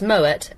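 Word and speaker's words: Moët: yeah because he was Dutch and so it's Moet a shondor so the a shondor is still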